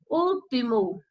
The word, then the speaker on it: último: Último. Último. Então, a sílaba tônica é o U. Ele até vem acentuado, já deixa aí uma pista para você saber qual é a sílaba tônica.